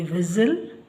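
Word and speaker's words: whistle: ಬ್ರೆಸಲ್ ಬಿಆರ್ ಐಎಸ್ಟಿ ಎಲ್ಇ ಬ್ರೆಸಲ್ double ಐಎಸ್ಟಿ ಎಲ್ಇ ವಿಸಲ್ ಡಬ್ಲ್ಯೂ ಆರ್ಇಎಸ್ಟಿ ಎಲ್ಇ ರೆಸಲ್ ಹಾಗೆಸಿಎಸ್ಟಿ ಎಲ್ಇ ಕ್ಯಾಸಲ್ ಎಲ್ಲದರಲ್ಲೂ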